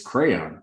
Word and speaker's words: Craiyon: It's crayon, right? Crayon, that's what it's called. That's what it is. Crayon. I was like, oh, it says crystal or crayon, but crayon is spelled CRAIYON.